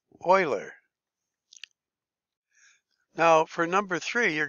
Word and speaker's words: Euler: think it be pretty nuts differently but it's pronounced Euler now for number three you're going to need